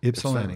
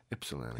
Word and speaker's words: Ypsilanti: So I was like, I wonder if that Y is silent or but yeah. Ypsilanti. Yeah. That's how we say it. Ypsilanti.